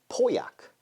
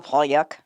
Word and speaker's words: Pauillac: I'm gonna go Pyuk, but based on my knowledge, Poyak is the most common pronunciation.